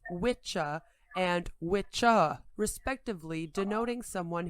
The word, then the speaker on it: wicca: english wisscraft from wicca masculine or whis feminine pronounced witcha and witcha respectively denoting someone who practices sorcery and from craft meaning craft or skill this term is often mispronounced as wicca when discussing the modern day religion of witchcraft